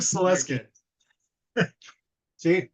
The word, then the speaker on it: Salewski: of the W and we determined the W is silent so yes and your